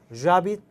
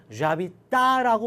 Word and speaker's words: j'habite: 어디에 살고 있냐라는 뜻이니까 j'habite 아 라고 발음하지 않고 연음을 해서 j'habite라고 발음을 하죠.